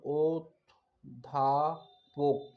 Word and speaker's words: অধ্যাপক: fascination অর্থ হচ্ছে আকর্ষণ অধ্যাপক অধ্যাপকের শুদ্ধ উচ্চারণ হচ্ছে ও ধাপক ওধাপক মুক্তাক্ষর ও বধাক্ষর একমাত্রা